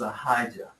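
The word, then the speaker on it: Ahijah: his name is haah I heard that on the audio Bible That's how I know how to say his name is aijah and he's a prophet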